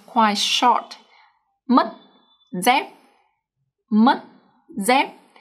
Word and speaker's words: mất dép: The reason is that when a Vietnamese word ends with the consonant T, C, or P, then the up tone is pronounced much shorter than the normal word.